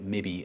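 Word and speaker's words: mebi: These are Ki, Mi, and Gi, pronounced kibby, mibby, and gibby, which sounds kind of dumb, but at least it's unambiguous.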